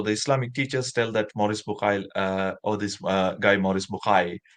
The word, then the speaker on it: Maurice Bucaille: Like in French, I think you should pronounce Maurice Bucaille.